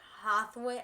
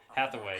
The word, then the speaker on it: Hathaway: Seas Candy or Birthshy or Hathway, I can't pronounce it. Hathaway.